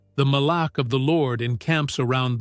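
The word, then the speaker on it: malak: The Hebrew word he uses for angel is mala. It is spelled m a l a k.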